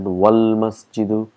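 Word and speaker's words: وَالْمَسْجِدُ: We say al-baytu qareebun, wal-masjidu, if you see here, it's hamzatul wasl, so we've got to put all our knowledge here, that's why we pronounce it wal-masjidu, ba'idun, and all we have, and that's a huruful qamar.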